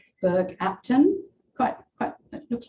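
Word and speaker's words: Bergh Apton: cemeteries um up here we've got borupton it's how it's pronounced in norfolk berg apton quite quite it looks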